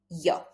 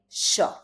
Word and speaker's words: yo: To say I in Spanish, I will say yo. See this is the pronunciation in most of the countries in Latin America. In Argentina, in Uruguay for example, we don't say yo, but we say sha.